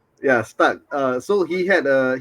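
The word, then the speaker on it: Stach: Stuck it is how you pronounce his name from leads. Yeah. Stuck.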